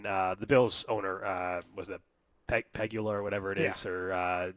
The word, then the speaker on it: Pegula: Jed York, the Niners, and then the Bills owner was the Pegula or whatever it is, or Pegula or whatever it's pronounced. Whatever it is. Pegula, thank you.